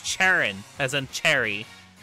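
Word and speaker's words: Cherrim: um has a lot of people talking it's cherin as in Cherry cherin cherin pronounce cherin yeah yeah that's that's definitely one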